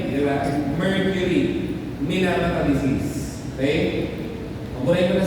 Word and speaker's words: Minamata: Minamata actually ang tawag pronunciation.